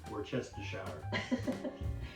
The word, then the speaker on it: Worcestershire: She's going to double the Worcestershire. Hey, how do you say that, by the way? Worcestershire.